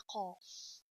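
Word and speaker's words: قاف: There is a big difference in the pronunciation between Kaf and the Qaf. Don't pronounce Kaf, Qaf, and don't pronounce Qaf, Kaf.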